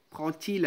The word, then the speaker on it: prend-il: C'est-à-dire le D et le T, ils sont prononcés les deux comme T. Prend-il un café?